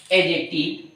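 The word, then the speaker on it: adjective: याद रखिएगा कि ए और डी के, ए और जे के बीच का जो डी होता है हमेशा साइलेंट होता है। बात समझ आ रही है? जब भी ए और जे के बीच का जो डी होता है उसको हम कभी, उसको हमेशा हम क्या बोलते हैं? साइलेंट मानते हैं। ठीक है, तो इसको इसलिए बोलते हैं डी यहां पर साइलेंट हो जाएगा, तो इसको बोलेंगे एडजेक्टिव।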